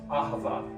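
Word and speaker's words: אהבה: It's pronounced aava.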